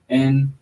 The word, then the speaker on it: Narragansett: Nahiganset, sometimes spelled with 2 T's. Narragansett. Europeans corrupted it, called Narragansett.